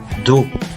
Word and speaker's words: dos: Les autres mots que vous voyez s'écrivent enclos, dos, mais se prononcent enclos, dos.